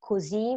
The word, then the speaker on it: così: più, that means more, così, which means so, and many more. So those are quite like easier because you see the accent and that the stress needs to go in the final vowel.